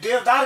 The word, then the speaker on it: देवदार: भारत में देवदार (Cedrus deodara) एक बहुत ही आम चीड़ का पेड़ है, जिसे हिंदी में देवदार कहा जाता है। जी हां, इसका उच्चारण देवदार ही होना चाहिए।